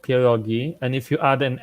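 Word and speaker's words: pierogi: a different thing second of all it's called poogi and if you add an S at the end of it you're dumb because poogi is already plural fighting word Uncle May fighting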